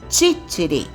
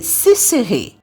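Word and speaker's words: ciciri: que era aquilo, e exigiam a pronúncia correta no idioma siciliano falado na época, que era titiri. Mas os franceses só conseguiam chamar o grão de bico de sisiri.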